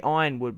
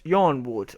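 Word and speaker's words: Yronwood: I say Ironwood because their sigil is an iron door. It's iron and wood. But some people argue that it's Yarnwood or Redwind.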